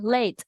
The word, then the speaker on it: late: Thì từ này là late. Đó. Thì đấy là cách phát âm chuẩn. Chữ L mình hơi đẩy lưỡi lên bên trên một chút và chữ T ở cuối mình sẽ bật ra late.